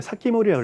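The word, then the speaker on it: 防人: 그래서 이때 뭘 만들면 기타 큐션이 방인을 사키모리라고 읽어야 돼요.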